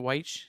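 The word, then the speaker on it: Wyche: any thoughts on the famous sam weich is it white how do you say it yeah that's how you say it public address i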